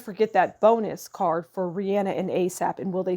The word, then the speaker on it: Rihanna: And the star for Rihanna and ASAP just says that ASAP will always let Rihanna, I keep pronouncing her name wrong, it's Rihanna, will always let Rihanna be the star.